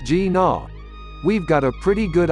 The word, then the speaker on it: GINA: we but now that we've seen the bmw gina concept pronounced g naw we've got a pretty good idea and it's